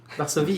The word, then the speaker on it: Varsovie: Varsovie, yes, French pronunciation.